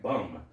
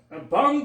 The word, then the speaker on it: Bunn: Okay, it looks like Bum. Bum. Bum. Bunn Pest Control. Bunn. I know Bunn, but the way it's spelled here, it says Bum.